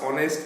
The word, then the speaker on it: honest: তা দেখো in this sentences 3 and 4 the words honest and hour begin with a vowel sound.